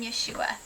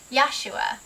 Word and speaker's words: Yeshua: from their sins some people pronounce his name and spell his name Yeshua but our family actually prefers yosua the spelling in the pronunciation of yosua and this is primarily because the spelling in the pronunciation of yosua connects him with to with the father better yah refers to yahovah